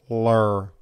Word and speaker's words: Ler: Lur. And you have to say it like that. Lur. You can't say lur.